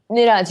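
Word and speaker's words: Neeraj: What do you think about the gold medal for, how do you pronounce it? Is it Niraj Chopra? Niraj, yeah.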